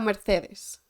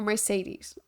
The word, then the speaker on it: Mercedes: or more like a Mercedes or Mercedes to pronounce it in English that was like kind